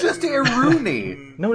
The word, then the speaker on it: Iruini: It's Iruni. There's another I in it, and I listened to the movie. I listened to Norek saying it. He says Iruni.